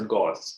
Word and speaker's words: gauze: Whereas the white cloth-like material which we use in our medical profession for soaking fluids, that is gauze. That's pronounced as gauze, okay?